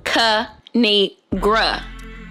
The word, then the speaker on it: Kinigra: me tell y'all a thing of three it's pronounced kanigra now subscribe oh I crack myself up thanks